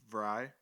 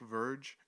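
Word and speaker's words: Vrij: i knew this i i know his name is dick vry but for some reason my stupid brain sees his name and tries to automatically pronounce it how my brain sees it so i've been calling him dick verge his name is his name is dick fry vry with kind of a v instead of fry vry and i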